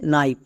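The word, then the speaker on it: knife: কে এর পরে যদি আমরা এন দেখতে পাই তাহলে কে সাইলেন্ট থাকে।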